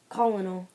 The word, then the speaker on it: colonel: Colonel. It's pronounced colonel. Trust me.